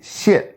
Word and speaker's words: 线: 那就是先、弦、显、线。那么千条线呢是 4 声线的发音，所以呢 3、4 声是仄音。